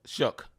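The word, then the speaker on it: Shough: say you say his name, show Yeah, Shook.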